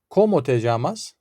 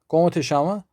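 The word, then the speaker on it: cómo te llamas: Bir diğer husus bu yamaz kelimesinin farklı şekilde telaffuz edildiğini duyabilirsiniz arkadaşlar. İspanyolcanın konuşulduğu yöreye göre bu y harfi yani 2 L olarak yazılan harf Arjantinliler tarafından örneğin Ş olarak telaffuz edilir. Yani komateşama şeklinde telaffuz edildiğini duyabilirsiniz bu cümlenin.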